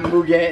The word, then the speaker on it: Mugen: I like the way it looks until you put the Mugen lip on, and then you notice it looks better.